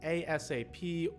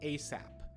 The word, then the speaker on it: ASAP: soon as you can however you can say asap or you will hear some people very casually just say asap so it's important to